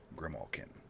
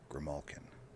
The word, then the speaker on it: grimalkin: In order to properly demonstrate what I'm trying to say here, Bree, some people pronounce it the way you do, Grimalkin. Others pronounce it Grimalkin. There is a difference, though subtle.